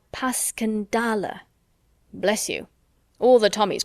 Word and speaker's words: Passchendaele: "Because that's the way I pronounce it to myself, but I looked it up, and it's more like Paskendale."